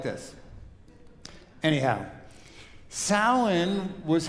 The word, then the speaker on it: Samhain: I just don't see how those letters could possibly spell Samhain, but they do. One of my favorite Celtic vocalists is Moira Brennan, spelled like this. Anyhow, Samhain was how my pre-Christian European ancestors honored their ancestors.